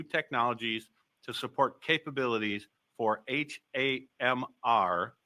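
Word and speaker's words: HAMR: And we are investing in new technologies to support capabilities for HMR, pronounced hammer, short for heat assisted magnetic recording, which will contribute to future growth.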